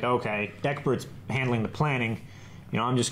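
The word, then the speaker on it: Ecbert: It's easier to go from Eckbart to Eckbert.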